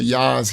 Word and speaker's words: Jah: and explained to him there was no J in ancient Hebrew so it would be pronounced yah I I um sister